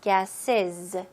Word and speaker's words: gases: greenhouse gases. 네, z 발음으로 끝나셔야 돼요.